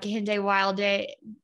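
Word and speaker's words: Kehinde Wiley: like you were reading about or learning about kente wilde was that am i pronouncing their name right yes yes andre wiley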